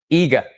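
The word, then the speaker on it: Iga: Heart to Heart's name is I G A and it's pronounced the I is pronounced as in igloo.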